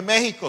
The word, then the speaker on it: México: comúnmente el país de México se escribe con j o con x con x pero se pronuncia con j haga el mismo intercambio